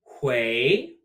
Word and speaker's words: 回: 回. To return. No, it's pronounced almost like 会, can or will be able to, but with a rising tone.